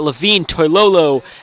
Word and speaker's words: Levine Toilolo: And we got Levine Toilolo, and I actually pronounced his name right for the people that